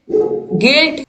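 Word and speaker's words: guilt: तो बिल्ड, बिल्ड, गिल्ट, गाइड, guess, इन सभी में जो यू है वो क्या है? साइलेंट है।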